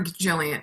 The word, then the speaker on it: Gillian: but wait is it is it Gillian or Jillian Gillian Anderson Jillian Jillian it's jilan it's a hard it's Jillian it's Jillian andersonan ja Jacobs Jacobs it's a real GIF